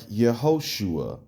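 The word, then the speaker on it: יהושע: At first, I saw a video that says, how do you pronounce Joshua in, in Hebrew? And the dude was like, Yehoshua. And I was like, oh my goodness.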